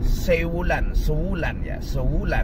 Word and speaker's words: Sewulan: sebuah daerah, yuqalu laha sewulan, bukan apa, bacanya ini sewulan, min a'mali Madiun, yang termasuk wilayah di bawah wilayah Madiun, Kabupaten Madiun, Jawa Timur.